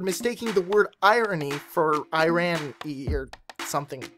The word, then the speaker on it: Iran: kept talking about no I rani or Iranian or any of that nonsense on these videos no Buford i'm not talking about Iran which for the record is pronounced Iran I'm talking about irony